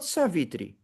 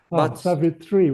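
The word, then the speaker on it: Savitri: a confusion with Savvitri but it's not Svitri. Savvitri is the wife of Shri Brahma. Savvitri with a long I Yes.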